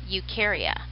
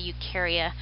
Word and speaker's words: Eukarya: the dog was called Eukarya and it's EU kar-wai a EU just means true